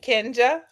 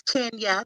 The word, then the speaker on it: Kenja: And Kenja. Hi, look, it's Kenya. The J is silent.